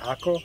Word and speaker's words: Acre: world center okay welcome to the city of acre liquor we pronounce it ako in this country we drove around the haifa